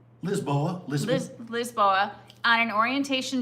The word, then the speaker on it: Lisboa: And how did you how did you say they pronounce Lisbon in Portuguese? Lisboa. Lisboa. I thought there was a joke yesterday when they said that. So, it's actually Lizboa.